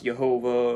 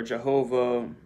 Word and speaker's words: Jehovah: h w h uh some pronounce yahweh some pronounce jehovah or jehovah some say yahweh there's different pronunciations i say yahuwah yahuwah and it's all just uh you know it's all just variation of pronunciations you know there's uh